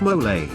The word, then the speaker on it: mole: Mole, pronounced mole, is a popular and spicy sauce used to flavor Mexican meals, including enchiladas and quesadillas.